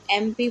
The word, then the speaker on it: MP: एमपी बोलते वक्त हमारा ए का उच्चारण निकल रहा है। मुंह से पहला उच्चारण क्या निकल रहा है? ए से निकल रहा है जो कि हिंदी के स्वर है।